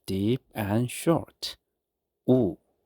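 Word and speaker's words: ㅜ: Oo. Oo. Oo is similar to the oo sound in English words like moon or fruit.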